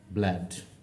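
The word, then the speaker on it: blood: একইভাবে এটার প্রোনাউন্সিয়েশন হচ্ছে ব্ল্যাড, ব্ল্যাড।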